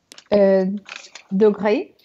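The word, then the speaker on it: degré: Первая, потому что с ударением читается как а вторая, как с обратным ударением, читается как Дегре. Да, это слово своеобразно делится на слоги. Дегре, правильно ты поделила его, да.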